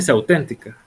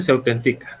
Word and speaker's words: autentica: Ahí dice se auténtica. No, sí dice se autentica, no lleva tilde, perdón. Mire cómo es interesante una tilde, ¿verdad? Y se autentica, dice ahí, perfectamente, porque no se tilda. Si auténtica, se llevaría tilde en la E, donde iría cuando nosotros